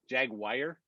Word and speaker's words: Jaguar: hey chris you realize you just called it jaguar that's what that's how the british say it jaguar jaguar jaguar steve's drunk